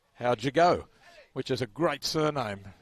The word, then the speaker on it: Howgego: The number 14 for Meanjin River Murrays, Hayden, and his surname is spelled Howgego, and it's pronounced how'd you go, which is a great surname.